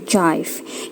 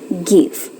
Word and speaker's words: give: Contohnya ini, kalau diikutin aturan fonetik seharusnya dia dibacanya jive karena E-nya silent dan G di sini dibacanya J. Tapi karena dia nggak ikut aturan, that's why kenapa dia dibilangnya give.